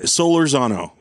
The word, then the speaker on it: Solorzano: do you say your last name my la solar Zano that is a good last name yeah thank